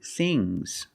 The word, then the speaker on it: things: One thing, two things. So NG plus S, it's a soft G.